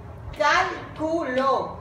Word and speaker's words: cálculo: Cálculo. Cal. Última, penúltima y antepenúltima sílaba.